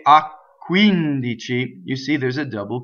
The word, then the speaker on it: quindici: So the word, next word is quindici, which has a stress on the antepenultimate syllable. This is not a normal stress. So most stress in Italian is on the penultimate, the second to last syllable, right? So the normal stress for this word would be quindici, but it's not in this case, right? So this is the one before the second to last, quindici.